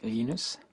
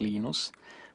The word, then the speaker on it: Linus: I speak Swedish it's unus when I speak Finnish it's lenus when I speak English it's lonus and I really don't care